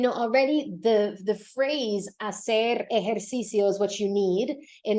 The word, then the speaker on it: ejercicio: The first syllable is e. Then the next one's going to be like hair, the thing you have on your head. Hair. Then you need cio, ejercicio. You need to make 5 sounds. Ejercicio. Sometimes people like to drop a syllable in this word, because I know there's a lot going on, but you need to have 5 sounds.